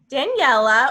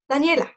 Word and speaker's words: Daniela: gonna move on to daniella or daniel excuse me which do you prefer people always mispronounce my day i don't know why but it's it's easier it's easier than one thing daniela that's it did i do it